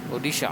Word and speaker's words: Odisha: How do you pronounce it right? Odisha.